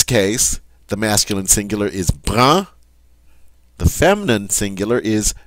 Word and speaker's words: brun: So in this case, the masculine singular is brun.